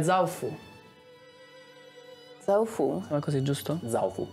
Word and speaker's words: Zaofu: Zaofu. Zaofu. Accento tonico sulla A.